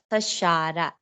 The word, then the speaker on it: Shara: Shara, Shara. SHARA. Yes. Shara. Yeah, I'm not. I'm Sara नहीं बोल रहा हूँ मैं.